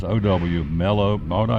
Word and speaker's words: Mellow Mushroom: Or as my buddy says, can't say it right, Meller. I said, no, it's not Meller, it's Mellow.